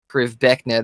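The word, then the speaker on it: Krivbeknih: You know the word that word is weird, but that is actually how it is pronounced in the game. Priv Beckna.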